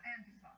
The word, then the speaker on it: Antifa: I'm gonna botch how it's pronounced. Antifa? Antifa? Antifa? Antifa? Yeah, Antifa.